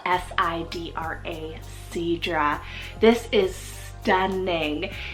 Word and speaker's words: Sidra: we have the gorgeous name Sidra spell s-i-d-r-a Seadra this is stunning it's a Latin Hebrew and